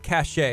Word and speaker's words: Cachet: Cupcake Cachet. Am I saying it correctly?